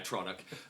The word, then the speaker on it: Atronic: I I would pronounce it atronog, but I'm pretty sure they're right when they say atronic.